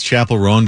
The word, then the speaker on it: Chappell Roan: Chappell Roan. Yeah. Okay. It sounds like chaperone.